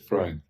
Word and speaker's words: Freund: no y me decía se dice fre lo estoy diciendo bien así es fre me estaba explicando sus